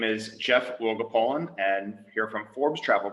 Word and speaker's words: Wielgopolan: the same way and how to pronounce my name but it will go poland so it's like we'll go fishing but we'll go poland and i joke if